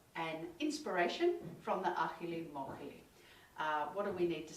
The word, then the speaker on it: Ajilimójili: you see the word, there's lots of J's and I's in there, but it's Spanish, so I'm going with Ajilimójili.